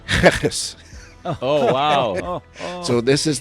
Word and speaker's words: Geris: And the lady politely said, no, this is not the way you pronounce Geris. You pronounce it Geris.